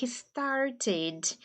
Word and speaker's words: started: mesma coisa do start tá vendo que antes do e é um t de tatto então Fi started started pronúncia britânica started ou started started pronúncia americana se não for nem